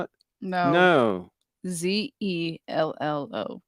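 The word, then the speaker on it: Zello: No, Zillow, Zillo. No. Is that how you spell it? No. No. Zelllo. Zelllo. Like hello, but with a Z.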